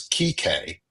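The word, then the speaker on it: Kike: It is Kik is how it is pronounced.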